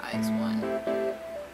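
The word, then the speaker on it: IZ*ONE: is this eyes one i keep calling him is one but i think it's pronounced eyes one right back again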